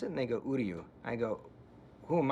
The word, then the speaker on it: Uryu: Because Uryu sounds like "Who are you?" So, I'd say, how do you pronounce it? And they go, Uryu.